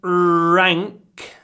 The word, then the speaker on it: rank: matters a lot pronunciation rank try to pronounce a long and then pronounce the with an open mouth rank rank rank matters next